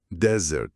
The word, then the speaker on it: desert: Para desert, o deserto, a força tá na primeira sílaba. Desert. Se a pessoa colocar a força na segunda sílaba, pode acabar soando como outra palavra escrita de forma parecida, mas com outro significado.